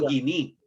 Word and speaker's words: koiné: es el griego koiné, que se escribe koiné. Se dice griego guiní.